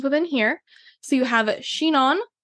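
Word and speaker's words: Chinon: couple sub regions within here so you have shenan c h i n o n and burgy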